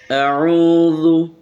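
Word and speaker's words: أعوذ: করে পড়ার চেষ্টা করি আউজু আউজু এই জু যেন না হয় আউজু আউজুবিল্লাহি আউজুবিল্লাহি আপনারাও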